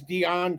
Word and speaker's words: Diane: Well, I was just gonna mention her because it it's worth saying her name is Dion Krueger. It's spelled like American Diane, but she's German, which is hence why they had to include the line about Anglo Dutch, her accent.